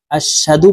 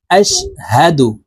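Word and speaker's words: أَشْهَدُ: এখানে হা জবর হা, হলকের শুরু থেকে হার উচ্চারণ হবে, কারণ হার মখরাজ হলকের শুরু থেকে হবে। বলতে হবে আশহাদু। আশহাদু বলা যাবে না, আশহাদু বললে ভুল হবে। বলতে হবে আশহাদু, আশহাদু আল্লা ইলাহা।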